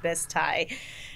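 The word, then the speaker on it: Bisti: place called bisty badlands it's b-i-s-t-i but it is pronounced biz thai um it's like an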